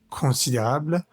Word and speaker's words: considérable: La producción, producción de quiche lorraine est considérable, ON nuevamente en nuestra vocal nasal, considérable, en cuisine familiale, en cuisine familiale, vocal nasal EN, como en el anterior párrafo.